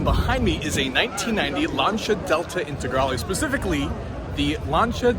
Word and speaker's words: Lancia: of people call this Lancia due to the spelling but it's actually pronounced launcha in Italian when you have the C in the eye it's actually a CH sound so you have elancha